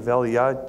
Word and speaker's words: Eliyah: Now, I like to use the more Hebraic pronunciation of Eliyah just because Elijah sounds so much like Elisha to me.